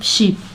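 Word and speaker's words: Xi: pronounce एी ठीक है इसको चाइनीज में शी बोलते हैं एक्स आई सी को ठीक है एंड द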